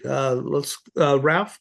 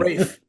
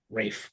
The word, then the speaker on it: Raph: Ralph, you are the one who started it, right? Yeah, it's actually pronounced Rafe. I know it's spelled wrong. Rafe.